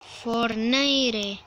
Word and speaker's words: Fortnite: Fortnite. Sería Fortnite. Fortnite. Fortnite. Sería en inglés. Se pronuncia Fortnite. Es Fortnite.